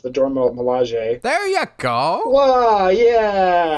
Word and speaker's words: Dora Milaje: it mean to be the, I'm going to mispronounce, the Dora Milaje.